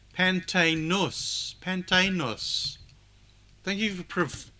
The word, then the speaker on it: Pantaenus: We had Pantanius.